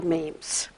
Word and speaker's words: meme: 1976 Dr Richard Dawkins coined the phrase memes and he came up with that word so that it would rhyme with genes and what he observed